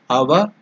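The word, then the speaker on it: Avaguṇṭhana: So the tongue should touch the upper portion of the mouth.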